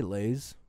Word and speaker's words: Lais: How would you pronounce that, Casey? L-E-I-S? L-A-I-S. L-A-I-S? I'd say Lays. Levi Lays wants to know,